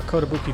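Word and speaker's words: Kotobuki: over here to uh kotabuki drug what did i call it kabuki drug i was mispronounced this place we're going to talk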